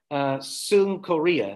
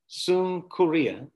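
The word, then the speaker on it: συγκυρία: I looked up the Greek word sunkoria, that's how you say it, sunkoria.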